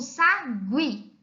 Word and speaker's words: sagui: a profilab trouxe aqui nós temos um sagui observe a interrogar o o nesse caso é pronunciada porque para ficar ali como diferença a vogal u não fosse para anunciada nós veríamos a palavra Sagui da seguinte forma sabe sabe mas nós não vamos assim não é para ficar be